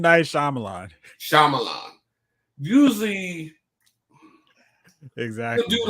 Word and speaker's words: Shyamalan: Night Shyamalan. M. Night Shyamalan.